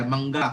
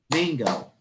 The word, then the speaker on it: mangga: Mangga. Mango. Hindi. Mango. So mali na po ang pronunciation because nagsyllable ka nga counting pero you did not follow the proper accentuation and the speed.